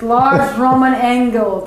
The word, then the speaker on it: Lars Romann Engel: Lars Romann Engel.